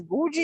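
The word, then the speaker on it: goji: kumquat there and this is berry it's a Gucci you pronounce it g-o-j-i goochberry yes it's supposed to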